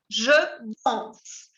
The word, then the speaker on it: danse: Vous dites par exemple, je danse. Vous prononcez jusqu'à la lettre S, mais vous écrivez un E au radical.